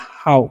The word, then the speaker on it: how: ठीक है, अब HOW है, तो एच का उच्चारण हम लोग करेंगे ह, OW जो है ना यहाँ पर, इसका उच्चारण आउ करना है, तो हो गया हाउ।